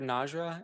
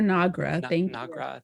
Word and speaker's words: Nagra: so then uh Dr najra and if I'm mispronouncing that you can yeah it's Dr nagra thank you sorry yeah it looks like Niagara but it's not Niagara um so uh thank